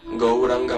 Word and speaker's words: Gauranga: The same process is to be repeated for the chanting of the Gauranga mantra Raj, which is the Gaura Gopala mantra. Go, Ra, 4-syllable Gaura Gopala mantra.